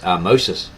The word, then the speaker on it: Ahmose: In 1580 BC, however, the Hyksos were finally expelled by the Egyptians under the energetic leadership of Ahmoses, a name pronounced Ahmoses, which is spelled Ahmose, Ahmes or Aames.